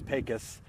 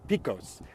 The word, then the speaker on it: Pecos: just one area in Texas where the trans pacus pipeline is uh being routed through the trans pacus pipeline by the way when you read it it looks like it's trans P Picos but it's actually pronounced pus uh the trans